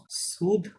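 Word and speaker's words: sud: east কে বলে এসথ West কে বলে ও ইউই ST West তাহলে ন সুদ এটা কি হবে সুদ উচ্চারণ হবে কিন্তু স এখানে ডি সাইলেন্ট ন সুদ এস ওয়েস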